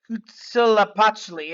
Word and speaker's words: Huitzilopochtli: In this vision, the Aztec god Huitzilopochtli, I think is how you say it, told